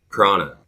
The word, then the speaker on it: prana: Prana. I think it's pronounced prana with an N, but I could be incorrect. So basically, you mentioned chi earlier.